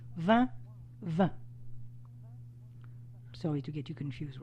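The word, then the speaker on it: vingt: enough and 20 is V actually it's pronounced like the word wine in French it's not spelled the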